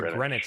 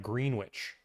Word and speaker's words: Greenwich: Is that how you pronounce? Yes. Why in the world is it Grenwich and not Green Witch?